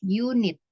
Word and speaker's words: unit: untuk kata ini yaitu tulisannya unit ya tapi cara membacanya bukan seperti tulisannya jadi cara membacanya adalah unit nah ketika kamu membaca